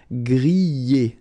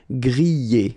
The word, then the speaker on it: griller: You pronounce them A, okay, even if you've got this R, okay, this combination of two letters, ER, at the end, will give you the sound E, all right?